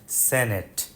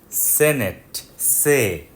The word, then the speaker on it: Senate: house of রিপ্রেজেন্টেটিভ অ্যান্ড সেনেট একটু আগে আমরা শুনলাম শব্দটা সেনেট সেনেট সেনেট কিন্তু বাংলাদেশে কেন জানি সবাই সিনেট বলে এটা ভুল শব্দটা সেনেট Have you ever wondered